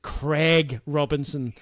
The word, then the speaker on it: Craig Robinson: He's Craig. American, so it's Craig Robinson.